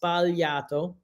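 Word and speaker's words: sbagliato: mistakes so it's valiato so you don't pronounce the G it's spaliato cool okay and yes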